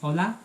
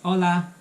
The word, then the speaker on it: hola: So in Spanish, hi is hola. It's hola. So H is silent.